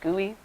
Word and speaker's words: GUI: It's a graphical user interface, GUI, that's pronounced GUI.